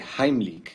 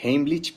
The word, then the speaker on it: Heimlich: vídeo la maniobra de jaimilk que por cierto esa es la pronunciación correcta porque está en alemán la mayoría dice heimlich pero bueno se entiende